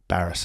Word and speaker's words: Barrass: his name wrong so how is it pronounced barrass as embarras oh I've always s